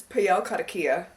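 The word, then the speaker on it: Payal Kadakia: look and make sure I pronounced the author right but it's pel kadakia kadakia but she is the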